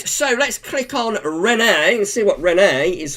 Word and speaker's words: Rene: a faux pas where I was sort of pronouncing Rene as Reen or Reenie. And but it turns out it's Rene. It's like hello, Rene.